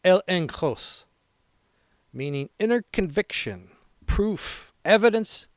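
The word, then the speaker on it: ἔλεγχος: Confidence in the Greek is pronounced elenkos, meaning inner conviction, proof, evidence that persuades.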